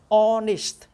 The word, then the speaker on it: honest: Cái chữ này, hát này, chúng ta không có đọc nó hát câm, silent sound. Chúng ta đọc là honest, honest.